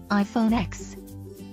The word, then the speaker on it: iPhone X: The name of one phone is rolling off everyone's tongues, iPhone X. The X, pronounced 10, is Apple's all-new design for the iPhone, with an edge-to-edge screen, fancy facial recognition features, and an eye-widening price tag.